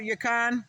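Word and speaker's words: yacon: But I just posted a video about Yakan or that's how I pronounce it. Y A I C O N.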